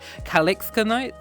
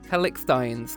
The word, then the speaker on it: Calixtines: Calixkanites? Hold on. Hold on. How do we say it? Calixtines.